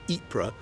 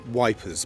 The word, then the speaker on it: Ypres: ruins of the Belgian town of Ypres, which the Tommies pronounced as Wipers because it's very difficult to pronounce.